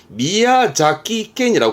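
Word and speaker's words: 宮崎県: 그리고 이거는 미야자키켄이라고 발음이 돼 자키가인데요.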